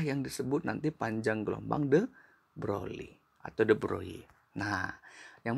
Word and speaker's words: de Broglie: Untuk mendapatkan panjang gelombang de Broglie atau de Broglie atau de Broglie. Nah, tergantung pronunciation kita ya, karena sebenarnya ini kan bahasa Perancis ya.